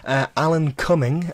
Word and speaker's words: Alan Cumming: So, a popular actor, well, maybe not popular, some people might not know him, Alan Cumming, that is exactly how it's pronounced and spelt.